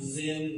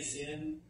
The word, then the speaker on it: Sin: the Wilderness it's pronounced Zin but you can say sin now this is not sin like you and I understand sin but I do find